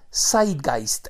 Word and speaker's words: Zeitgeist: popular que se llama Side guist Esa es la manera como se pronuncia en alemán se escribe con z